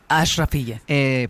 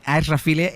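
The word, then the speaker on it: Achrafieh: es nuestra enviada especial, está en el barrio Aishfile, ella me dirá cómo se pronuncia, en el hospital donde están tratando algunos heridos. Mariela, ¿qué tal? ¿Qué tal, Ángel? ¿Cómo se pronuncia? Ashrafile. Pues Ashrafile, en ese barrio está ahora mismo Mariela Rubio.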